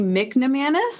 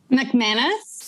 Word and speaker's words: McManus: your last name right mcnamaras is that right mcmanus oh mcmanus the n is silent that makes sense there is no n this is m c m a in us mcmanus oh i don't